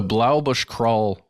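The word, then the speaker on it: Blaauboschkraal: people the name of that River it's the Blau Bush crawl River and that's what the all of these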